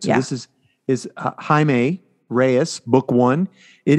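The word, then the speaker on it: Jaime: Beetle Jamie Reyes book one but it's not pronounced Jamie it's Hae really I looked it up I definitely read it as Jamie the entire time that makes sense though because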